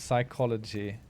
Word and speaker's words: psychology: just can be silent psychology I pronounce every letter in there psychology what do you mean the P at the beginning because it's more like psychology rather than psychology is that what you're